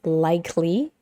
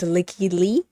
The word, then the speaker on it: Lykke Li: And I want to pronounce this as likely, but I think it's Lykke Li. Okay, I want to say likely, but I think it's Lykke Li.